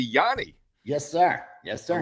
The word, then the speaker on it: Gianni: I've always said, I say Johnny, some say Johnny, so I asked you, and it's actually Yanni. Yes, sir. Yes, sir. Like the musical guy back in the day, Yanni, right?